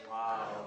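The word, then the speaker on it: واو: Wow. We are on what? Wow. Wow. And it's pronounced like the English word wow.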